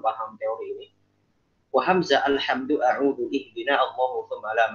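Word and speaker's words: الحمد: Jangan bacanya alhamdu. Al. Nah, kayak kemarin yang talaki Al-Fatihah ya. Walaupun saya juga sampaikan hari Kamis tuh. Ketika baca alhamdu jangan jadi tebel.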